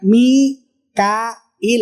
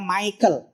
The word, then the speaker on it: Mikail: Malaikat Mikail. Orang Inggris bacanya Michael.